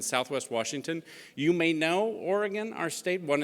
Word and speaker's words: Oregon: so Portland and Southwest Washington you may know Oregon our state State one it's pronounced Oregon you're in California so would know